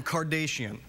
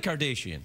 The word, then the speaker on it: Kardashian: Why are you saying Kardashian? How do you say it? It's Kardashian. You're like one of those newsreaders that says Nicaragua, like that.